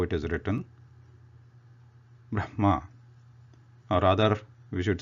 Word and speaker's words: Brahma: this thing continues but the fact is that Brahma should be pronounced as is it is written not in the twisted reverse way because it doesn't hold